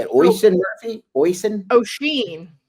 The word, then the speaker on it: Oisin: Oisin? O'Sheen. Yeah. I heard it was Percy Barr. Was the Colebrook, right? That was calling him Ocean the other day, so it was fun.